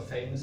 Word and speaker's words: FAMOS: But just to introduce you to the FAMOS project. So FAMOS or famous, it's still debated what it's pronounced, right? But I say FAMOS.